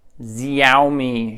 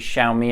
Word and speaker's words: Xiaomi: how do you pronounce Zeile me Gio me how do you say it it's actually Xiaomi I got it wrong in our first video